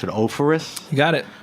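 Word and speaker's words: Offerus: Thomas, how do I pronounce it? Ophoris? You got it. Ophoris, which is one of their Saint Josephs in a great kind of price point, right?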